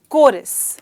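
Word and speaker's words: chorus: कैसे ऐसे बोलती हूं कोई लोग से कुछ और तरीके से बोलते हैं क्योंकि इसकी स्पेलिंग थोड़ी अलग सी है लेकिन हमें कहना है कोरस अब कोरस क्या है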